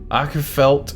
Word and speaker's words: Åkerfeldt: said he basically gave me a way to pronounce City the name is a shortening of Wilson acha felt åkerfeldt åkerfeldt projects so just WA p so